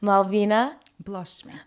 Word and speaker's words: Malvina Blloshmi: Today we have the queen of cocktails and all things bougie as fuck with Malvina Blloshmi. Did I say it right? Close. Malvina Blloshmi.